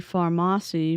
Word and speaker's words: Farmasi: we were reviewing a pharmacy Pharmacy I think it's pronounced Pharmacy I I keep saying Pharmacy so if I switch between both I'm talking about the same company they're a makeup multi-level